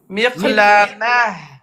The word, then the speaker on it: مقلمة: Ta, je répète, se prononce comme ha. Ha de hello. Ha, il y a de l'air qui sort. Miqlamah.